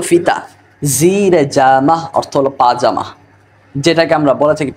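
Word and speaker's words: پاجامه: জিরে জামা অর্থ হলো পাজামা যেটাকে আমরা বলে থাকি পায়জামা আসলে সঠিক উচ্চারণ পাজামা পায়জামা না তাহলে বান্দার জিরে জামা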